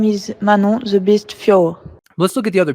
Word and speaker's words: Fiorot: fighting in that instagram fioro manon fioro is not how she pronounces her name let's hear her see how she pronounced it my name is manon the best fjor my name is manon